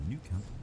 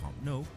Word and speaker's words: Camp Nou: Incorrectly pronounced in English as the Nou Camp. Okay, they call it the Nou Camp.